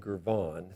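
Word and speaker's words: Girvan: And so the classic example of this is the edge betweenness method that Newman and Gurman came up with. Newman and Gurvan, thank you, I got my syllables mixed up, came up with, which says we talked about betweenness centrality on nodes.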